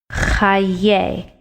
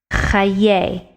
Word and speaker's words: חיי: The dash under the chet makes cha. The two dots next to each other under the yud makes ye. Chayei. It's a difficult word to pronounce. Chayei.